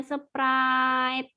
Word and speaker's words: Sprite: gak boleh seperti itu memang benar tulisannya Sprite tapi dibacanya surprite itu kan dia ada